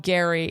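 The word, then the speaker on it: Gerry: the getting to know Gary this is going to be a bit of a mind thing because it's spelled Jerry but we say Gary and honestly just watching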